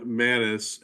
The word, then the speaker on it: Mattis: is not voting Mr mats we do I'm sorry M Mattis is that how you pronounce it yeah thank you Mattis